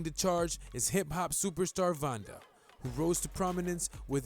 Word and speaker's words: VannDa: I've been saying VannDa, so it's VannDa.